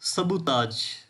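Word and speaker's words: sabotage: उसके बाद सबूताज, या इसको समटाइम्स सबूताज भी कहते हैं। मैं लिख देता हूँ सबूताज। आखिर पे ना जेड की आवाज़ आती है, ठीक है। प्रोनाउंसिएशन का ख्याल रखना।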